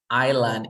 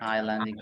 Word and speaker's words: Island: way foreign vegetables my friend laughed when I pronunciated Island incorrectly Island incorrect Island correct and I pronounce pronounced and last one